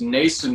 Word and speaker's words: Noesen: so cool final question your name is pronounced Mason but it's spelled N o es en if you had a